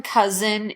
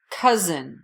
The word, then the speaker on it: cousin: nephew cousin the essen cousin is pronounced as a Z so really go for that cousin you